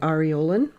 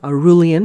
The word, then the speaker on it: aureolin: I will take my aureolin, or aurelian, if you prefer to pronounce it that way.